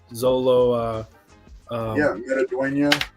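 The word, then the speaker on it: Xolo Maridueña: Zolo. Metaduena.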